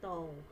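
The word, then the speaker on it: τ: Simbolnya seperti ini, bacanya tau.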